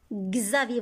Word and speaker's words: Xavier: Xavier, vous avez ici X, se prononce Gz. Gz avec A, Gza.